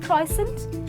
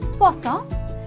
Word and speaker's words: croissant: there is croissant ok not kraw-sant its kaw-sant and of course the